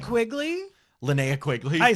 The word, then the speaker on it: Linnea: Lena Quigley. Linnea Quigley. I pronounce that wrong every single time.